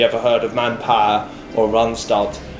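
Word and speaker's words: Randstad: heard of manpower or runstart that's actually the way the dutch tend to pronounce it um so i really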